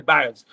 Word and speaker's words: Biles: Biles não, Simone Biles, não é isso? a pronúncia é essa, Simone Biles, que renunciou a disputar a própria saúde mental.